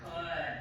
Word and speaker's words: could: Because could. That's a trick word. Good. That L is silent.